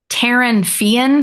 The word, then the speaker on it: Taryn Fian: Taryn Fian. So it's Taryn with an N and then Fian.